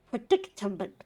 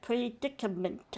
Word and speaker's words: predicament: So making um so taking advantage of the sailors predictment predictment. How do you say that? Predicament.